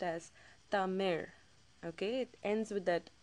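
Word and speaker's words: தமிழ்: the actual uh language itself Tamir it's actually pronounced as Tamir okay it ends with that raw sound um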